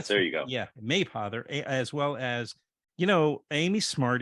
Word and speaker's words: Mapother: It's a tough one. You hit that first syllable. There you go. Yeah, Mapother, as well as Amy